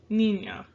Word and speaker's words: niña: So, niña. Identify your vowels. We have I and an A, right? So, when possible, we like to have syllables end with a vowel. So, we have here ni, nya. Niña.